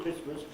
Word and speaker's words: Christmas: in their transcription but people haven't pronounced the tea in christmas for about a thousand years right i wouldn't put